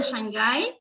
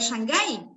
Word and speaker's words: Shanghai: s nuestra palabra city no pueden poner shanghai porque si bien se escribe con s ch tiene otro sonido sí gracias profe bueno